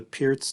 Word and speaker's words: Pirc: everyone i recently learned the pierce defense or perk defense as some people pronounce it from national master